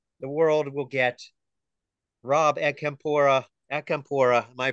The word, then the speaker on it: Acampora: Rob Acampora, am I pronouncing that right?